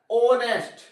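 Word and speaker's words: honest: अब जब कसोनेंट है लेकिन इसका जो प्रोनाउंसिएशन है इसका जो उच्चारण है जो उच्चारण जो आ रहा है सेशन जो आ रहा है वो किसका आ रहा है? ऑनेस्ट किसका आ रहा है?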